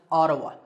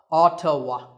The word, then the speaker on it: Ottawa: the capital of Canada is Ottawa yes it's pronounced Ottawa Ottawa this is a fact about the world here